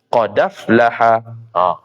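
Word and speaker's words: قد أفلح: Jadi qad dal tu mati. Af hamzah baris atas. Naqal di sini ialah pindah baris. Pindah baris hamzah pada aflaha kepada huruf dal. Dan hamzah tadi tu buang. Jadi bacanya qadaflaha.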